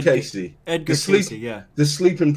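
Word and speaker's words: Cayce: in the comments edgar rice he's an awesome guy i loved i loved reading about edgar rice edgar rice edgar rice craig casey and i'll say it right edgar casey edgar sleeping yeah the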